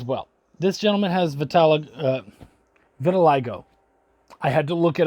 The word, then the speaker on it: vitiligo: loved this as well this gentleman has vitalig vitiligo i had to look it up to make